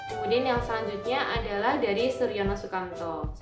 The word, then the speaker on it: Soerjono Soekanto: yang selanjutnya adalah dari Soerjono Soekanto bukan Soerjono soekamto yaitu karena ejaan nama